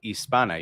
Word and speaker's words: Hispana: La Comunidad Hispana. You don't pronounce the H. And don't make it Hispania. There's no tilde on the N.